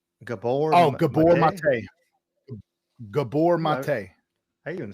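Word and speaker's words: Gabor Maté: Gabor Mate.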